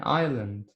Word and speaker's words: island: As you know that the S letter is silent. We don't pronounce it. Okay? An island.